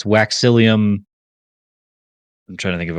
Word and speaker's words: Waxillium: know it I think it's literally like William but without the W and just put wax in there so I think it's